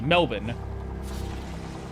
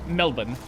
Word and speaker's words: Melbourne: Hey, how do you pronounce uh the word Melbourne as in the Australian city? Melbourne.